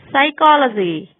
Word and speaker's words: psychology: Psychology, pterodactyl, pneumonia. PH is sometimes pronounced as telephone, alphabet.